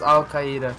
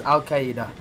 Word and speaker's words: Al-Qaeda: the video it says Al-Qaeda no it does not say Al-Qaeda it's Al Qaeda or Al-Qaeda it's not Al Qaeda you're like literally adding another syllable of the word it is Al-Qaeda oh